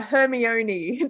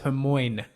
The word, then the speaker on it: Hermione: excellent memories of pronouncing names the way Mom pronounced them which was hilariously yeah I think she I think she was a Hermione to me for quite a long time yeah yeah I always thought it was Hermoine hopefully just because it makes sense yeah phonetic